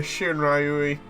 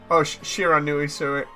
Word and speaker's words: Shiranui: Didn't bother with the other one, the Shiranui. It's Shiranui, sorry, pronunciation was wrong there.